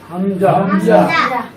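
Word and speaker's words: همزة: আচ্ছা, এখানে হামজা সম্পর্কে বলা হয়েছে যে এটা শক্ত হবে এবং এটা পড়ার সময় আমাদেরকে শ্বাস বন্ধ রাখতে হবে এবং 1 নম্বর মাকরাজ অনুযায়ী হামজা হরফটাকে উচ্চারণ করতে হবে।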